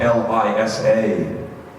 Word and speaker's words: Lisa: a W, or pronounce the love of my life, my wife's name, which is spelled L-I-S-A, as if it was spelled L-I-S-E-R, Lisa.